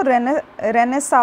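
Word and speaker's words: Renaissance: Indian रेनेस तो father ये जो रेनेसां लिखा हुआ है बट इसको जब आप प्रोनाउंस की प्रोनाउंस करते हैं तो वो रहने सा होता है ठीक है तो रहने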